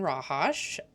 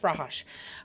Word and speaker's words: Rahos: Um, I really enjoyed Liz and Rahos. They are. I said his name wrong, didn't I? Nope. Rahos.